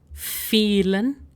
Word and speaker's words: vielen: you can also use vielen Dank, which means thank you very much. Vielen Dank. If you have noticed, I am pronouncing this part as feel of English, because the thing is,